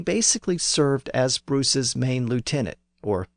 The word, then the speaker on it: lieutenant: He joined with Robert the Bruce as soon as Bruce was crowned as king, and he basically served as Bruce's main lieutenant, or lieutenant.